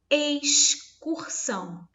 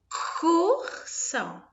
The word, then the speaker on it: excursão: Excursão. Reparem que há uma diferença muito grande na pronúncia. Eu falo olha aqui, ó, o som do X. Excursão.